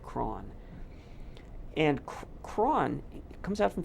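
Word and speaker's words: Croghan: guy named George craw it looks like his name is spelled Krogan but apparently he said cron and cron comes out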